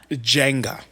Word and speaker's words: Jenga: We had a little Jenga board. Jenga. Did you call it, back in the day, I called it Jenga. I called it Jenga. Yeah, which that is how it's said. It's Jenga. Jenga.